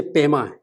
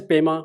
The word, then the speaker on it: Pema: I just pronounce like an Indian actual pronunciation. But in Tibetan, they say Pema, Upe, Tenzin, Tibetan's form of this pronunciation.